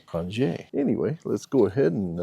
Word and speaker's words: Qronge: And if you do hear me say crunch a few times in there, that's because how I used to pronounce the name of it, but then I found out that they actually preferred to say cran.